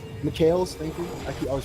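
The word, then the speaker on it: Mikael's: Has his Macarel, I believe it's called. Mikhails, thank you. I always pronounce that item wrong.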